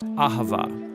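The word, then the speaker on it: אהבה: languages as it is in ancient Hebrew it's pronounced Ahava it both basically refers to the kind of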